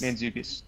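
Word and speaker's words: Mantzoukas: uh dianis which was placed by I can't pronounce his last name but Jason uh manukas manukas manukas yes that H you say that uh you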